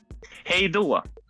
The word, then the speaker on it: Hej då: Hej då. All right, hej då. Hej då. It's awesome. Hey now. Hej då.